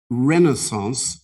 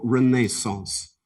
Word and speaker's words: renaissance: you can have two pronunciations for your word you can either have renaissance or renaissance renaissance r e n a i s s a